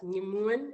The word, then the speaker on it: Nyamoun: Again, that's Nyamoun, and your tongue reaches the whole roof of your mouth when you begin to pronounce it.